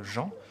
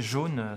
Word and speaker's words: Jean: enfants j'étais animateur et un enfant d'origine étrangère n'arrivant pas à prononcer mon nom qui mon prénom qui se trouve être jean le prononcer jaune c'est une erreur de prononciation qui a été reprise